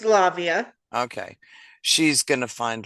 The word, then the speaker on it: Lavia: How do you pronounce that? Lavia? It's Lavia.